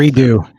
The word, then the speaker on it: Redot: as a quick followup I've heard both redo and red do which which what is the proper pronunciation here all of redo it's redo redo okay another add is